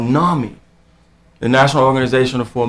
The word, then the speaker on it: NAMI: was comparative right but I know Nami is the correct pronunciation and everyone that trained